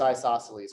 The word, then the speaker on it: isosceles: obtuse angle and it's isosceles which spells a little bit weird it's iso s-c-e-l-e-s isosceles even though you don't pronounce it that way riley what about example